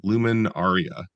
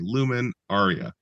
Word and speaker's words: LuminAria: 2001, a show called Luminaria. I think that's how you're supposed to pronounce it. It had a capital L and a capital A. So, it wasn't a Luminaria, it was a Lumen Aaria.